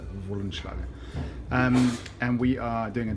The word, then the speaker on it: Wollenschlaeger: Yeah, W is a V in German, so Wollenschlaeger.